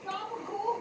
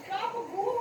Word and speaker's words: gabagool: Is gabagool correct?